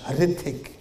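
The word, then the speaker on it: Hrithik: Hard to pronounce. Starts with an H. Ritik.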